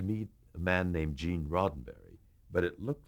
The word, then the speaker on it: Roddenberry: to meet uh Mr Rosenberry and you know you're nervous enough as you are but then when you're corrected that you had mispronounced the producer's name that really throws you